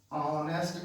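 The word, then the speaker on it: honest: अगर ये साइलेंट है तो हम कहेंगे, अगर ये साइलेंट है तो हम कहेंगे एन ऑनेस्ट girl. You आर एन ऑनेस्ट girl. H यहाँ पे साइलेंट है, नहीं बोला जा रहा, ऑनेस्ट नहीं कह रहे हैं, तो ये एच साइलेंट है।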